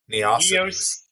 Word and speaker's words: Neocities: fly-by-films dot Neocities. neocities. So just remember GeoCities, but with an N.